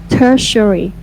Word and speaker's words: tertiary: another tertiary ti team tertiary tertiary industry and you put the stress on the first syllable yeah people the stress